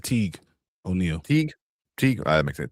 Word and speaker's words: Teague: How do you pronounce that? Is that Teague? I said Teague O'Neill.